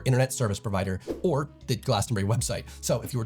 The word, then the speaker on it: Glastonbury: But sad fact, I did not get tickets to Glastonbury this year. Notice I pronounced it Glastonbury, not Glastonbury.